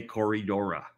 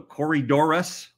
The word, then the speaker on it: Corydoras: what you're talking about but it's wrong when you say corridorah so Corey Doris oh yeah Corey Doris whoa